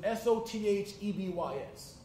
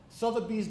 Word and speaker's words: Sotheby's: the richest town in America I couldn't even pronounce their name it was SOT h-e-b YS Sotheby's and so I walked into Sotheby's and